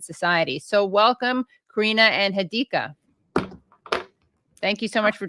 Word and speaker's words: Hadika: Is it Hadika? Is that the right emphasis? The second syllable, not Hadka. Hadika.